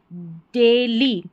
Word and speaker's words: daily: Small, small, डेली, ठीक है, DAILY, इसको डेली पढ़ेंगे। AI का उच्चारण हमेशा ए होता है।